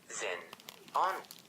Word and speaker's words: xenon: When you pronounce xenon, the X sounds like Z, so the words sound like Zen-on.